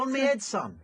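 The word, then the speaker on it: onneadsun: yeah on meadson oh was pronounced oh on meadson did you spell that yeah no I didn't just no it's spelled o n n e a d s u n and it's an old football thing on me Ed sign oh okay it means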